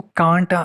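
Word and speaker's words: can't: अच्छा, यहाँ पर ये कैंट है, हम लोग पढ़ते कैंट है, इस वजह से मैंने भी पढ़ा कैंट है, लेकिन ये कैंट नहीं है, इसको कांट मोस्टली लोग पढ़ते हैं।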